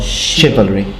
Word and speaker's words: chivalry: They always thank you for this, but it's actually Chivalry, not Chivalry. Right, it's Chivalry. Wow. Like when you say chandelier or Chicago.